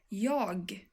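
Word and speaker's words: jag: very very very detailed you would actually have a final sound in the end and then you would say yog with a short G sound in the end but I I will not teach you this why because this is something that we write and you might say it but actually in 95% of the cases in everyday situations you would not pronounce the final sound you know you just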